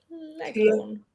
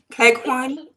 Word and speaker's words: Cleghorn: Leghorn. How do you say that? Cleghorn? Cleghorn, Eleanor yeah.